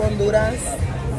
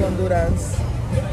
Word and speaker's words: Honduras: do that is it Honduras no I mean in English because that's how you say it on Ludas the H is pronounced like it's silent um so we're